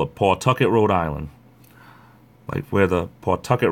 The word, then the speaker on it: Pawtucket: as most other place people would call it Pawtucket Rhode Island where the Pawtucket Red Sox of course we're from around here we say Pawtucket hey the PA W is pronounced put put target there was this hole